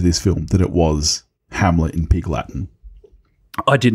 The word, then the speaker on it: Hamlet: where that Hamlet, and I do believe it's a soft TH at the end, I believe. Yes. I didn't know that. I felt like they were pronouncing it more like Amleth in the film, but I did read later that it is supposed to be a soft, yeah.